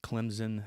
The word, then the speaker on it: Clemson: clemson university uh in clemson south carolina you say it with the p but it's spelled c-l-e-m-s-o-n um and from key